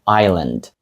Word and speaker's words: island: називається isлен тобто Ісландія тут S не вимовляється і ми просто кажемо Island але написати все рівно